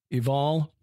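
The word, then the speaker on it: Ebal: of shoval elvon menohoth eval as in mountival um possibly yeah spelled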